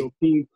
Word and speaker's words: Joaquin: And Joaquin, I can't ever pronounce his name properly. Joaquin.